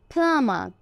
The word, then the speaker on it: plumber: এই যে আইপিএস সিম্বলে আমরা দেখছি ব ব কোনো সাউন্ড নেই। ফ আ প্লাম, এই চিহ্নটা হলো আ। প্লাম, প্লামার, প্লামার। যদি আমরা প্লামার বলি দ্যাটস ওকে, ব্রিটিশ প্রোনাউন্সিয়েশনে আরটাকে বলা হয় না, এটা সাইলেন্ট থাকে, তাহলে প্লামার।